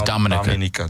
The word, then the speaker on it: Dominica: So that's the official way to pronounce it. Is Dominica.